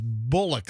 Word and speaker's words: Bullock: This guy's name is Bullock. Like Sandra Bullock.